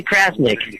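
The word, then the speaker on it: Crasnick: Jerry Krasnick.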